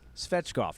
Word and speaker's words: Svechkov: spreadstop so federer's fetchkoff and like you said mace we have to make sure that we don't uh throw the extra syllable in there we have seen